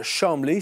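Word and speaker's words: Cholmondeley: voyez c'est cette dame marquise de chamblé c'est ainsi que ça se prononce également si vous le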